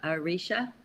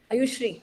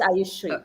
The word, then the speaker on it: Ayushree: And Arisha, how do you say your name? Ayushri. It's Ayushri. Arushri.